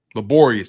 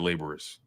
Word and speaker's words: laborious: just been heavy laborious laborious that's the word that's how you pronounce I said laborous yeah I wasn't trying